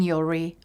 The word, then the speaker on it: Yuri: sounds like, rhymes with, so we do feel your pain, Yuri, rhymes with jewelry.